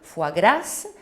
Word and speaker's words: foie gras: cas bien entendu de foie gras même si s'est prononcé en espagnol fois grâce c'est le cas de